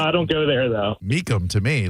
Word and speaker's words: Mecum: It's pronounced Markham. MECUM. Markham something. Yeah, Markham something like that. I mean, looks like no, I don't go there though. Meekum to me, like MECUM.